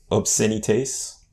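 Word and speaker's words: obscénités: PU Pan Artiste de Obscenites. Obscenite? Maybe. I don't think you pronounced the S in French.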